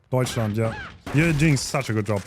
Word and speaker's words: Deutschland: Argentina versus Deutschland. Did I say that right? Deutschland, yeah. You're doing such a good job pronouncing names.